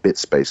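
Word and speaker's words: biit.space: i i t dot space i i just pronounce it bit space because otherwise it's going to be b space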